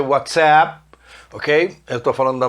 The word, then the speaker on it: WhatsApp: Essa aula será transmitida para o grupo de WhatsApp da sua turma, que em inglês não é WhatsApp, se pronuncia WhatsApp.